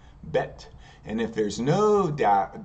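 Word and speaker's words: בית: one thing I forgot remember bet SL vet if there's a dages or a dot in the middle it's going to be pronounced with the B sound but bet and if there's no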